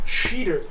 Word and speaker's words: Cheetor: he runs loose yes his name is chear by the way cheer cheet he pronounces it he pronounces it cheater he does when he